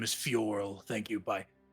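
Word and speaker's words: F'yorl: I forgot to say my name is Fioral. Thank you. Bye. Fural. Fioral.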